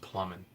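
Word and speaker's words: Plamen: I met a Bulgarian guy in college, and so although it looks like Playman, I think it's actually pronounced Plumman.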